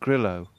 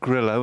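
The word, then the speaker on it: Grillo: maroy playing with Emiliano gillo Argentinian I think it's pronounced gillo and not Grio probably because he plays in America I would say Grio there you go what do I know and he's only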